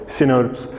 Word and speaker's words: snRNPs: Dominance of, अब देखिए यहां पे SNRNAs और SNRNPs, स्मॉल न्यूक्लियर राइबोन्यूक्लियोप्रोटीन्स, जिनको हमने कैसे प्रोनाउंस किया? सिनर्प्स।